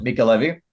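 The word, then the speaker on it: Mica Levi: not only accompanied by an incredible score from Micah Levy, I think it's how you Michael pronounce Levy, it, yeah. Mika Levy.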